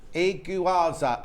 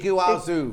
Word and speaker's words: Iguazu: Can you say how to say it? Iguazu. Iguazu Falls. Iguazu It Falls. depends whether you're which of the countries that around it, how it's said, and it is the Iguazu Falls.